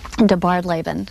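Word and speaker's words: DeBardeleben: And it's pronounced? De Bardlaben, and that's actually Margaret's middle name.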